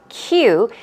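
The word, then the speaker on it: queue: As I did mention, there's a noun form and the verb form, but it's pronounced exactly the same way as you would pronounce the letter Q. Q, and it means in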